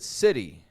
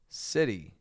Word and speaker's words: city: So the flap T, as in right over, is when we pronounce T as a D. Now, sometimes we do this in the middle of a word, like in the word city, life in the big city, city.